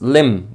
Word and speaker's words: limb: Rick um also uh the pronunciation is limb with a silent letter at the end so it's limb biscuit not limb okay